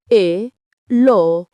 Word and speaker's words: Elohim: Segundo nombre, Elohim. pronuncia Eloim.